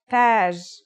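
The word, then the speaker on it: تاج: Tage. Repeat after me. Taj.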